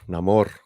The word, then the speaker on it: Namor: not that pin neyar namore you say it like you got you got to say it like you're underwater yeah there we go